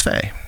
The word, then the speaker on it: Faigh: And I was like, Chris Fay. How it's pronounced.